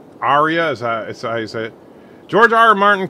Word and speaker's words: Arya: please you learned to say her name right Arya Arya size it george RR martin kill everyone why